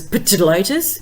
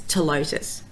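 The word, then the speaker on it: Ptilotus: It's the same when you see a Latin name which is PT, you don't say the P. For example, Telotus, which might look like it should be pronounced as Ptelotus, it's Telotus.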